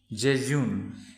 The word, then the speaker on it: jejune: তাৰপিছত find a synonym for jejune. ইয়াৰ pronunciationটো চাওঁচোন.